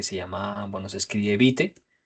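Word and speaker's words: Vite: Y por otro lado, vamos a necesitar esta herramienta que se llama, bueno, se escribe Bite o se pronuncia o se lee bit.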